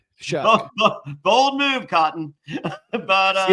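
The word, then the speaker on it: Shough: You can always just remember it rhymes with fuck. Shuck.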